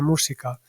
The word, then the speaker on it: Mujica: De alguna manera dicen como Ave Música, que adaptado a la pronunciación japonesa sería esto de Ave Música.